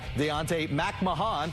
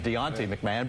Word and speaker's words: Deontay Mahan: They've also got Deontay Mahan. Thank you for the Toronto Argonauts for the pronunciation clarification on that one. We used to refer to him as Deontay McMahon.